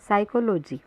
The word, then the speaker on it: psychology: इसी प्रकार PSYCHOLOGY में P साइलेंट है और उच्चरित होता है साइकोलॉजी।